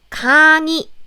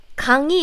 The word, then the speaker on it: 강의: I said if this 의 sound is in the middle of the syllable, not in the first syllable, then you pronounce it like 이, as in 강의.